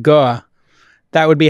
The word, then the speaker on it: Guo: Gore, if you were in Boston, you said Goa, that would be how you would say it.